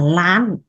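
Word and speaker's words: ລ້ານ: Triệu tiếng Lào nói là lán.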